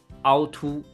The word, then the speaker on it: 凹凸: Number 3, the third word, 凹凸. 凹凸. So here's the funny part, 凹凸. Both characters are pronounced in the first tone, 凹 and 凸.